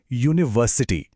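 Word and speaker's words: university: जैसे यूनिवर्सिटी। ये शुरू तो यू से होता है, जो एक वॉवल है, पर इसकी आवाज क्या है? यू, यानी य की आवाज, जो कि एक कॉन्सोनेंट है, इसलिए अ यूनिवर्सिटी।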